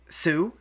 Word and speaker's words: Sioux: another car before they eventually escaped to uh Sue is that how you say it oh you're